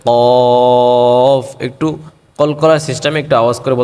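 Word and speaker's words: ق: এই কফ উচ্চারণের সময় আমরা কণ্ঠ থেকে উচ্চারণটা করতে হবে, কণ্ঠনালী থেকে, এবং মুখ থেকে না, কফ বলা যাবে না, বলতে হবে কফ।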